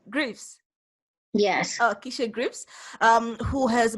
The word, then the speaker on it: Greaves: Yeah, you pronounced it correctly. Greaves.